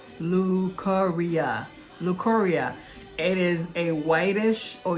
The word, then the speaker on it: leukorrhea: Okay, so it is pronounced leukorrhea.